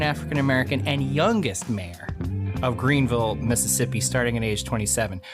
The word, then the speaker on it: Greenville: first woman and African-American and youngest mayor of Greenville, Mississippi, starting at age 27. But I have to first ask, did I pronounce that right? Is it Greenville or Greenville?